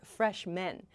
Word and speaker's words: freshmen: So, fresh man, freshman, becomes freshmen. The pronunciation sounds exactly the same, so you need to listen to the context.